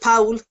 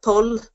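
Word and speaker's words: poll: So I would pronounce it Powell. People in Munster would pronounce it Powell. But up in Ulster, Pull. So there's a difference. Or pole. So it's just slightly different ways.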